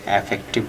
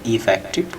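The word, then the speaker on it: effective: ইফেক্টিভ আপনি নট সে এফেক্টিভ বলবেন না, বলবেন ইফেক্টিভ, কার্যকর, ফলপ্রসূ বা কার্যকরী।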